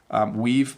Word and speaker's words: we've: We've performed much better. So it's just a slight V sound.